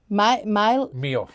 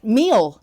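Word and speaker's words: Miele: And it's, how do you say that? Meal. Meal. Yeah, that's how I say it anyway. Meal. M-I-E-L-E.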